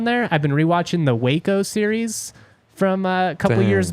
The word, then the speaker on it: Waco: I've been rewatching the Waco series from a couple years back. Dang. It's really good. It's really intense. I've been pronouncing that wacko this whole time. Can you believe it? It was wacko.